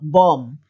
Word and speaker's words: bomb: end of a word for example bomb it's not bomb so just pretend that the bee isn't there yet limb yes